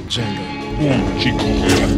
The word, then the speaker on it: Django: Django. Oh, Chico, you're not green. Let me show you. The D is silent.